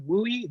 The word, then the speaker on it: WUE: right in so what is we right it's pronounced louis and if your counselor if you hear a counselor say have you heard of wooi this is exactly what they're referring to um